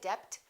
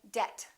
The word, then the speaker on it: debt: climb we say climb debt don't say depth say debt subtle and doubt another